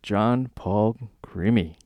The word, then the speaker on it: Jon Paul Crimi: John Paul Crimi.